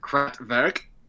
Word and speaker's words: Kraftwerk: Evan's band, Kraftwerk. Yes, it's pronounced that way.